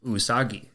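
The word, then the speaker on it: うさぎ: the Japanese word for rabbit and that is usagi usagi is spelled u-s-a-g-i and usagi is very relevant to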